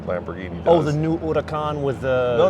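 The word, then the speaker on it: Huracán: Oh, the new Huracan with the.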